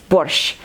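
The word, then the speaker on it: борщ: wash ah this four letters at the end of this word is actually one letter and one sound in Ukrainian so it's not worth it's Porsche and I have no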